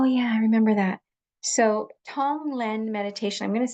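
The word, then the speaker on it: Tonglen: So, Tong Len meditation. I'm going to spell it for you because it's sort of hard to pronounce that G and but it's it's just spelled T O N G L E.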